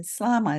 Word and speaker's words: Slama: to introduce you to Slama is that how you say your last name yes that's correct good and because she's